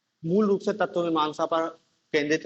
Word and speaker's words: सुत्त: दूसरा क्या है, सुत्त पिटक। सुत्त, सुत्त मतलब वो पाली में रा का उच्चारण नहीं किया जाता है, तो सूत्र है एक टाइप से।